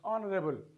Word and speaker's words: honorable: H letter, we have hour, we have honor, we have honest, we have honorable. Under all the circumstances, what do we find? We find that this letter here is silent. It is hour, it is honor, it is honest, it is honorable. Under all the circumstances, we find H letter is silent.